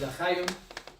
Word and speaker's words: l'chaim: They wear like pendants, and they pronounce it l'chaim, no, meaning to life, to life.